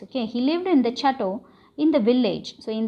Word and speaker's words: chateau: Chateau pronunciation is SH, chateau.